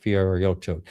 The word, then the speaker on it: Fiorito: Welcome to the show, Mike Fiorito. Am I pronouncing it sort of correctly? That's fine. Don't worry. It's I always say it's like Fritos corn chips.